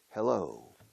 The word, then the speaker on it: hello: Hello, es hola, eso lo sabes. Pero la pronunciación, la entonación, hello, hello. La O final lleva todo el peso.